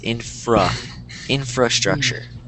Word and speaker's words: infrastructure: hard to tell but I am not pronouncing this first R um but the correct way is infra infrastructure infrastructure yeah infrastructure good